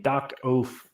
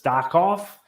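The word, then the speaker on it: Darkoath: So I mean, Dark Oath makes perfect sense. But I guess before I saw that, I always pronounced it as Dark Off.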